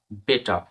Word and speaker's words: better: যেমন BETTER, বেটার, বেটার। এখানে আর পুরোপুরি সাইলেন্স থাকবে। এটা ব্রিটিশ কান্ট্রিদের জন্য আর এর উচ্চারণ হয় না।